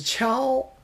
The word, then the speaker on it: 锹: This 秋, provide the pronunciation for the, but I pronounce as chow, shovel.